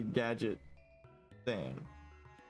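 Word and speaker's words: Gadgetzan: yeah, but I mean, if you look at the words it's made up of, it's obviously Gadget Zan. Like Inspector Gadget.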